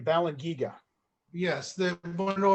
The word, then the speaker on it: Balangiga: in knowing about the and i'm sure i'm mispronouncing this but the um balance giga massacre is that ah the balance you balan giga yes they want to